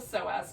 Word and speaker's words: psoas: So one is called the psoas muscle, which is spelled really cool with a P.